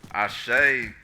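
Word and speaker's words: àṣẹ: Nigeria the Arobin language the word I shake is spelled ast with the accent over I say means that whatever whatever it is that you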